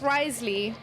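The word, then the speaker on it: Wriothesley: streams please in 160p his name looks like rth rley am I close it's Risley but it's spelled like Rio the sleigh it's all good K Chang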